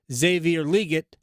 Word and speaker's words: Xavier Legette: So, but what I would hope is if you decide that Xavier Legette, that's how you pronounce his name, we have that breaking news.